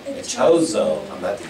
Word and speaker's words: Echeozo: Lady, how do you pronounce the last name? Echeozo. Echeozo.